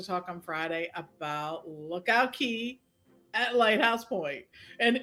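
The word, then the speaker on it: Cay: right they Cast Away key right and it's cast away because it's looks like it's K so they're like you know that for decades we've had to learn that right it's not it's key which is really hard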